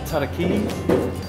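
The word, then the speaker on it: tarakihi: I think you'll find they're pronounced tarakee, blue warahau, and hoki.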